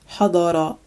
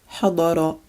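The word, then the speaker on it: حضر: This one means to attend and is pronounced hadara, hadara.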